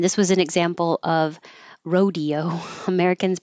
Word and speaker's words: Rodeo Drive: make a mistake and this is always Rodeo unless you're talking about Rodeo Drive in California then it's pronounced differently in that situation so I don't know